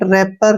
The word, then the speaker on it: wrapper: तो यहाँ पर एक चीज कॉमन है कि W से R से पहले W आया है तो W वहां पर साइलेंट रहेगा, रॉन्ग, राइट, रैपर, रिंकल, ऐसे, ठीक है ना।